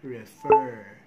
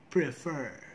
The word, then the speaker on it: prefer: say practice repair and refer which is wrong how to properly pronounce it do not forget the first sound this is consonant clusters practice prepare prefer practice prepare prefer let's